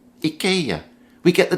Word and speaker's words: IKEA: furniture superstar it's not ikea it's not ikea it's ikea ikea we get the name